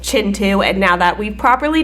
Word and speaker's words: Kintu: I called it Kintu when it is in fact Chintu.